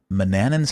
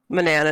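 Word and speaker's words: Manannan: all right well here we are in uh manan's house which growing up I always thought it was pronounced Manan so I don't remember when I learned to say Manana and it must have been king's quest five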